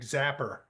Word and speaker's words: Zappa: I remember Colin because he pronounces Zappa like zapper when he when he